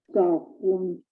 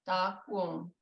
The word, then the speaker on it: dakwum: Now, we have audio of Della Prince and she said it dakwum. Some other speakers said it daku, which is easier to say, but we don't have